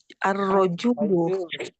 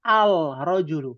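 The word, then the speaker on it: الرجل: Tapi ketika menggunakan alif lam, maka menjadi apa? Ar-rajulu. Ar-rajulu. Maka menggunakan tasdid pada huruf ro. Itu saja perbedaannya. Maka tidak bisa dibaca al-rajulu, nggak bisa.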